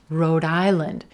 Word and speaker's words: Rhode Island: Again, we're going to stress the second word here, island, and that white tie vowel sound. Island, island, lind, lind, island, Rhode Island. Do you hear how my voice continues that D sound at the end of road right on into the beginning of island?